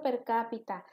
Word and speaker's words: per cápita: decir por persona per cápita o sea esa es la pronunciación correcta per cápita y esto como dice